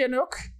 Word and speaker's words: Anook: use my gift wisely anook it is fitting your name rhymes with book my father always said